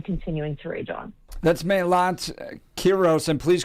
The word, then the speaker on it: Melat Kiros: That's Melat Kiros, and please correct me if we're pronouncing it incorrectly.